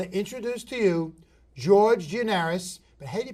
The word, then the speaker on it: Giannaris: so i want to introduce to you george gianaris but haiti pronounced in greek henries janaris okay janaris call you gianaris okay george it